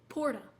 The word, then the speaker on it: porta: Porta, for example. Porta. You can't roll your R's. It's not even that hard.